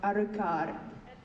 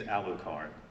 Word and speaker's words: Alucard: has mentioned them but do you think his name is aldocard or arukar his name is alucard no it's not yes it is after all dracula spelled backwards is alucard not arukart it's been this